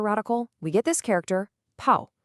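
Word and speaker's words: 跑: This creates the character pow pronounced Paul.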